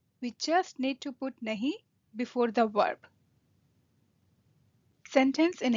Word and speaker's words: नहीं: No, nahi. Not, nahi. You can spell it N-A-H-I or N-H-I. Either way is fine as long as you are pronouncing it nahi.